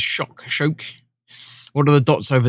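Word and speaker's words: kök: Swedish word for kitchen is kock, where the first K is pronounced SH. The second one is K, so it's shock.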